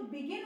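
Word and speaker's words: began: Form में बिगिन है, यहाँ पे बिगन नहीं है, ये बिगेन है और ये बिगन है, यू लगा हुआ है।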